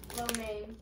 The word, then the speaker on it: lo mein: There's no A, it's M-E-I. It's the way that, yeah, it's the way it's spelled and the way that the people, then they themselves say it.